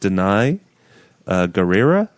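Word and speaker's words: Danai Gurira: I think it's pronounced Denai Guerrera.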